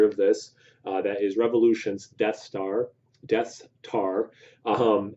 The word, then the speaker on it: Deth: Um, I think you just pronounce it Death.